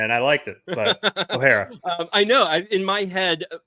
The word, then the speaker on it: O'Hara: It's O'Hara. It's you O'Hara. put a little twist on it, and I liked it. But O'Hara.